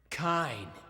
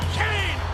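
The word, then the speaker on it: Cain: Your name is spelled C-A-I-N. What's that spell? That's gotta be Kane!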